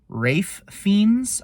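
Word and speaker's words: Ralph Fiennes: Joy I think I always get this guy's name wrong Rafe fiends I think is how you pronounce his name the guy who was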